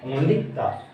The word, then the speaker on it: the: तो सबसे पहले बोलते हैं दा, ओनली दा। इसका जो प्रोनाउंसिएशन दा कब बोलता है? अगर दा इस वर्ड के बाद में कॉन्सोनेंट साउंड यानी कि व्यंजन ध्वनि आ रही है, यदि THE के